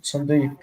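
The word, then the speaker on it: צדיק: to try that one sadik then that will be sad and that will be dick sad dick uh two closed syllables s so we can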